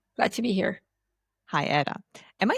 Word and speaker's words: Ada: Hi, Ada. Am I saying it right? It's Ada? Okay, so the English speakers call me Ada, Okay. and I'm from Latin descent. So, but my name is Ada.